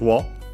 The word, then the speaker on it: を: Then we have the object particle o, written as wo, and pronounced as such in careful speech and also singing.